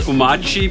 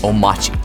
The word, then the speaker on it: Omarchy: The way I pronounce it is Omarchy. Right, Omarchy.